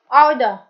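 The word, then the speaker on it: odour: आओ द, are silent है.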